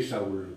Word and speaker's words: Saul: Verset, non, c'est Saul là qu'on dit. Ah, Saül, donc pour Saül, il y a 2 points sur le i. Oh, moi Et- j'ai prononcé Saül. Mais par exemple, si tu le lis en hébreu, Paul, tu le dirais Shaoul. Oh, Shaoul, hein, en hébreu.